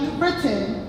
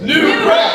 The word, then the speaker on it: New Britain: pronounce our City's name it is not New Britain it is New Britain hi I'm